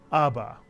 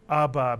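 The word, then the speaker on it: אבא: mitsu by the way the accent in this word is placed on the first syllable ABA and what does the word ABA mean father or daddy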